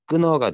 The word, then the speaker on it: 끊어: 원래 끈, 허 발음해야 되는데 끈허 라고 발음해야 돼. 불편하니까 히읗이 떨어집니다. 그래서 끊어가 되죠.